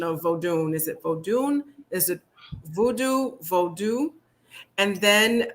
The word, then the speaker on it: Vodou: it is it is vadu whether we put a n at the end or not the n is silent just like in oh